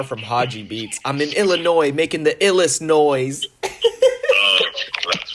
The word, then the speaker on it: Illinois: for the Navy, and I pronounced Illinois as Illinois with an S. Yeah. Yeah. And I was like, what are you talking about? It's Illinois, Marky.